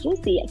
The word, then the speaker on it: Juisea: admit in the past i have butchered the name i started to say you see it and then so someone told me it's juicy so where did you